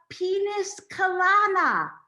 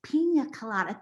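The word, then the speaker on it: piña colada: she says i'll have penis kalana mom it's pronounced pina colada that's what i say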